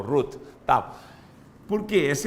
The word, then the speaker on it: Ruth: rute 1 a cirurgia se pronuncia o te no final ruth tá porque essa é